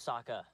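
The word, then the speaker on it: Sokka: yeah there's a moed away uh my name's Saka rhymes with AA I knew you was going to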